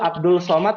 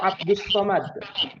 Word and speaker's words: Abdus Somad: pertama apa yang kedua Abdul Somad atau Abdus Somad yang kedua Abdul Somad e yang kedua yang betul tapi kenapa tulisan-tulisan pamfletnya Abdul Somad nah kurang tepat Abdul Rahman itu eh pengucapan orang Indonesia ya ternyata salah hurufariah huruf syamsiahnya salah seperti itu ya fahim